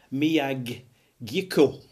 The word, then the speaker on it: Miyagikyo: It is Nikka Miyagikyo. Gikyo. Right, that's the way it's pronounced.